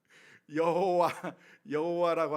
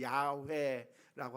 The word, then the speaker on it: 야훼: 여호와라고 하는 말이 더 정확한 발음으로 하자면 야훼라고 하는 말로 발음이 되는데, 그것을 짧게 하면 야입니다.